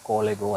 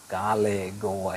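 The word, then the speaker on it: Kalegowa: video ini teman-teman bilang bukan Stadion kolegoa tapi stadiion kalegoa Jadi mohon maaf atas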